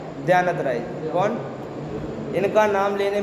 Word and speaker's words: द्यानतराय: ध्यानत राय जी ने बहुत सारे भजन लिखे हैं, उनमें से एक है अब हम अमर भय न मरेंगे।